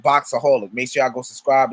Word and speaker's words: Boxaholic: It's called Boxaholic. Make sure y'all go subscribe. It's spelled BOXAHOLIC.